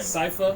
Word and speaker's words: Sypha: How do you pronounce her name? Sypha.